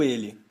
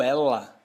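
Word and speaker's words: elle: essa pronúncia e o ele como é que é o ele em francês Il e o feminino disso O ela ela em francês é el el parece né só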